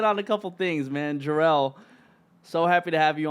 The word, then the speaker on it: JERHELL: The H is silent, man. JERHELL for anything else, whether it be music, YouTube, all the good stuff.